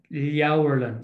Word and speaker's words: Leabharlann: So that A-B-H, the Irish pronunciation is generally consistent once you're able to know the sounds that they make in the first place. So if you see an A-B-H, it'll nearly always be pronounced like Au, Leabharlann.